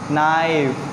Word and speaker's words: knife: नाइफ, very good, नाइफ, this is नाइफ। यहाँ पे भी जो के है वो क्या है? यहाँ पे साइलेंट।